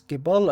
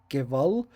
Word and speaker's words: Gebal: So it's Gebal and not Geval because it's in the northern Canaanite dialect. So the southern dialect would pronounce it Geval, but I chose the northern since the faction is up there.